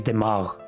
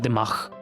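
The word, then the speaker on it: دماغ: For example, the word brain in Urdu is dimagh, and I always called it dimagh with the KH at the end.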